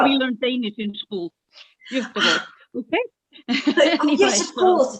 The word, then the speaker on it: Göteborg: Göteborg. Gothenburg. Wow. Very good pronunciation. Very was good. Was it? Yeah, yes, it was. No, you did well. We learned Danish in school. Göteborg.